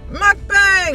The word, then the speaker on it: mukbang: They pronounce it mukbang officially. mukbang. I looked it up on YouTube. Mukbang. How do you pronounce mukbang? And then they said it's a Korean word and it is pronounced mukbang.